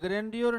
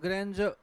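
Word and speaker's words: grandeur: ध्यान देना इस पर यह ग्रैंडर नहीं है इट्स ग्रेंज और गजर का मिनिंग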